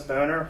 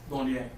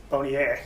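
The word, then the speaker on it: Bonér: Jonas Boner, is that how you pronounce his name? The originator. Bonnier. Bonnier, I'm sorry.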